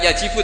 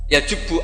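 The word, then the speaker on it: يجبّ: Itu bacanya bukan yajibu tapi apa? Yajubbu a yaqtou.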